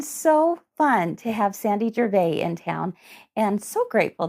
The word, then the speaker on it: Gervais: no I'm sorry Aunt Gervais Sandy okay tell us remind us how to spell Gervais g-e-r-v-a-i-s okay so Gervais Sandy the S is silent silence off the S